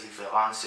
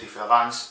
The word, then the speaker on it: différance: Y la cosa es que se pronuncia de la misma forma, ¿no?